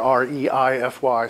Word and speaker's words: reify: That word there, R-E-I-F-Y, sort of a funny pronunciation. Reify.